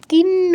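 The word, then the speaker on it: কিং: কিন্ন রাজ্যেন গোবিন্দ। কিন্ন, কিন্ন অনুসার পর ত বর্গের অক্ষর আছে, তাই অনুসারের জায়গায় নয় হসন্ত উচ্চারণ করতে হবে।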